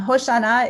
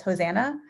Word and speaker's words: Hoshana: hard to pronounce um hoshanah is the hebrew pronunciation of the word that you might have heard as hosanna and in christian context